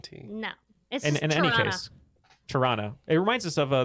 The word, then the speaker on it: Toronto: surprised that you uh didn't say the second t in toronto yeah you pronounced it